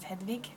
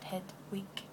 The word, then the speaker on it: Hedvig: My name is Hedvig, not, in Swedish. But if you're an English speaker, you already have this name, and you call it Hedvig, probably. And for English speakers, it's a head and a wig, and you're set.